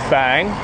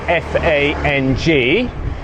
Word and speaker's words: Fang: we're heading north to Fang uh written in English is f a n g normally just pronounced Fang but as I have been been schooled it is indeed an uptone and so it's Fang it's not the crack awn it's 8:00 a.m.